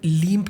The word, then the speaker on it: LEMP: तो लनम्प जो है थोड़ा अजीब सा लगता है सुनने में, ठीक है, और कहने में, इसलिए लीम्प कह देते हैं।